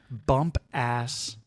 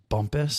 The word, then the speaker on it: Bumpass: pronounced it's in Virginia bump ass Bumpass Maryland or Virginia I'm sorry Bumpass Virginia I'm sure it's pronounced Bumpus Bumpass Bumpus but uh it definitely